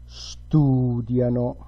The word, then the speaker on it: studiano: And loro, again, you retract the stress on the syllable that comes before, and it becomes studiano.